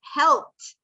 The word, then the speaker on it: helped: How would you pronounce helped? Is it t, d, or id? Estás en mute. Es id y se pronuncia that. Helped. Helped. Escucha la mía. Helped. Helped. ¿Qué tú estás escuchando ahí al final? La T, ¿verdad? Helped. Porque acaba en P, ¿verdad?